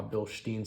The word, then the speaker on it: Bilstein: If you hear someone say, oh, I've got my Bilstein suspension, it's technically Bilstein. That's actually how the Germans say it.